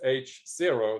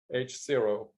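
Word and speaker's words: H0: is rokyo h-o-e actually i wrote this as h-zero that's how they say it in europe h-zero uh they don't balance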